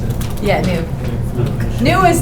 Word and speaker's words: GNU: new gnu cash oh so that's how you pronounce it yeah new new is not Linux I mean new is